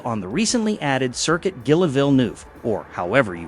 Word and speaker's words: Gilles Villeneuve: This race is held on the recently added circuit Gilliv or however you pronounce that. It is pronounced Jilv.